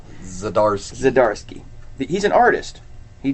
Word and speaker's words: Zdarsky: I ain't gonna try to pronounce the last name. Zdarsky.